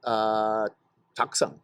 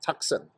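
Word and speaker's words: Taktsang: up to Tiger's Nest, which is Taksang. That's how you pronounce it, Taksang.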